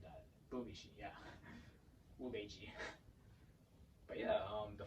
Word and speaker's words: Bubishi: Apparently that's an ancient technique that's found in the Bubishi. Oh, I butchered that. Bubishi, yeah.